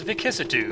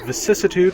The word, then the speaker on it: vicissitude: for chapter 4 is vitude uh vicissitude thank you very much it's a soft SE oh my bad haven't